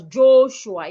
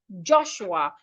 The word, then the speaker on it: Joshua: Joshua, I hope you do not pronounce your name as Joshua. It's Joshua. The letter O in your name sounds as in orange.